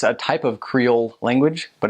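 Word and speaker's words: Krio: They speak Creole, it's spelled K-R-I-O.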